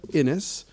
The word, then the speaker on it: Innes: Soft, sweet, feminine sounds of Innes rhymes with Guinness.